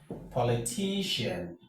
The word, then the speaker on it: politician: So when you have words like this, remember this pattern of words always have the stress in the penultimate syllable. And the penultimate syllable is always the one before the final syllable or the second syllable from the end of the word.